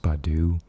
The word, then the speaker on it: Baidu: I think there's Yandex, and then I think the other one's pronounced Baidu, which is overseas.